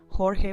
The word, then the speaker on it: Jorge: Jorge with a soft J, not the hamburger J.